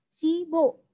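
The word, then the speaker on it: 십오: Sip o dibaca sibo. Jadi membacanya disambung.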